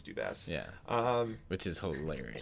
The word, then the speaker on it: Dubas: because I don't listen I heard it said on TV as dubass I'm pretty sure it's dubass yeah um which is